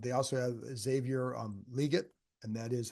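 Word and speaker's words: Legette: an issue um they also have Xavier um liot and that is how you pronounce it it's not liette it's liet Le liette um so he's he's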